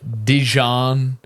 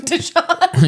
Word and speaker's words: Dijon: rather listen to uh Dijon uh I pronounced that right I was going to say I've been calling him Deon yeah uh I've been calling him Deon this whole time you know what I